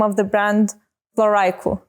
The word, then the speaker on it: Floraïku: So Floraïku, as in flora plus haikus, Floraïku.